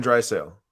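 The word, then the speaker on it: Draisaitl: guy's last name again dry Sail dry dry sail yeah Leon dry sale no T pronunciation maybe there's a little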